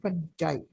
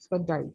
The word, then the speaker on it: fungi: Fungi cells that are classified into the kingdom fungi. Fungi. People pronounce it differently, fungi or fungi. It depends on you.